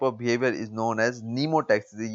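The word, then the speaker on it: pneumotaxis: So that type of behaviour is known as नीमोटैक्सिस। ये एम इसमें silent है, हम इसको नीमोटैक्सिस पढ़ते हैं।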